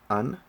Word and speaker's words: an: An far, that's pronounced un is the article.